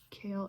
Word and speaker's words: kale: basil here's my kale kale is a word with a silent e 7 e here's a